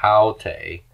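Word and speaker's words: αὕτη: Okay, so notice we have a rough breathing right here, and the accent is on the first syllable. Haute, this feminine singular thing.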